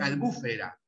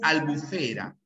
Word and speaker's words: albufera: Zafiro y acá también muchos profesores de geografía se confunden y dicen albufera ya cuando la pronunciación es albufera albufera ya es una palabra grave que termina en vocal no aparece la palabra